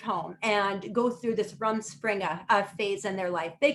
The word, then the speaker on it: rumspringa: before called run springer um i may be mispronouncing it a little bit it's r u m s p r i n g a rum rumspringa uh it means interpreted running around